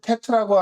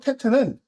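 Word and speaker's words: טית: 테트는 어 보기에는 지지금 지금 어려워 보이지만 쉽습니다. 저 따라해 보세요. 테트는요. 딱 긋고 야 이겁니다. 딱 긋고 이겁니다. 테트 테트 다시 테트는 테트 이렇게 쓰지요. 음가는 티귿 티귿을 씁니다.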